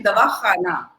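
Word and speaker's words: दवाख़ाना: So dawakhana has a nukta under it, so it has to be dawakhana.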